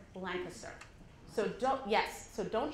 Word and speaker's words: Lancaster: nonfiction conference it's in Lancaster Pennsylvania which is pronounced blind sir so dope yes so don't show your Canadian colors by calling it Lancaster it would be very good so I'm at